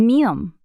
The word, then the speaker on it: 미음: 미음, The name of this consonant is mieum. Mieum is the same M sound you make when you pronounce mug.